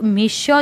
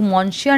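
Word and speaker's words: Monsieur: Okay, let's recognise one thing that यहाँ पर ये जो मिश्योर जो है इसको हम लोग मॉन्श्योर नहीं पढ़ेंगे बिकॉज इसमें आर है ना वो साइलेंट रहता है, सो we will pronounce it मिश्योर।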